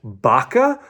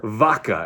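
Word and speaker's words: vaca: and is it baka or vaka? And it's like, well, it's kind of in between.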